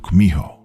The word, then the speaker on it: Kumiho: In Japanese, you've probably heard of it as Kitsune, though in Korean, it's pronounced Kumiho.